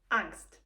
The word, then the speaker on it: Angst: Angst. This word is pronounced the same in both languages, but it has not 100% the similar meaning.